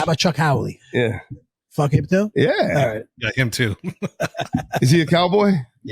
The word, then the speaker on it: Chuck Howley: No, it's not Charles Haley. Chuck Howley.